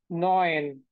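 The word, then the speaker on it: neun: হ্যাঁ, নাইন কে কি বলে? নয়ন, নয়ন, নয়ন। একদম ইজি এটা, নয়ন। নাইনের সাথে অনেকটা মিলে যায়।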